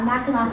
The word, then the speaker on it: Mackinac: Why, if the island is spelled with a C on the end, is it pronounced as if there were a U on the end?